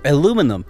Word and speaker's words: aluminum: And whatever this is, aluminium, isn't it? Or aluminum, yeah, as Americans say.